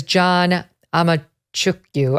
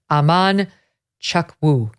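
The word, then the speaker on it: Amanchukwu: school board meeting um his name is John amuku I can't I don't have it in front of me it's Aman chuwu that's how it's pronounced forgive me John you're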